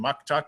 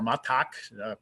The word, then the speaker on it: muktuk: a family gathered around eating Muktuk or macaque pronounced differently in different places this is the delicacy